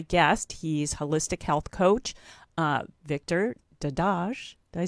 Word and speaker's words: Victor Dedaj: He's holistic health coach, Victor Dedaj.